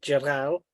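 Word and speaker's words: J'rahl: Okay, J apostrophe Okay. RAHL, Jaral, Right.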